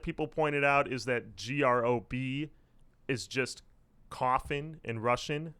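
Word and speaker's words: ГрОб: The other thing, too, that people pointed out is that GROB is just coffin in Russian. So no one says their band name as GROB.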